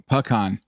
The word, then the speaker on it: pecan: All right, so it's 2 syllables, whereas I'm kind of smashing it together. Pecan, right? You're saying it's pecan. Pecan. Yeah, pecan. Yeah. Almost like a P-U-U con, like K-A-H-N, like pecan.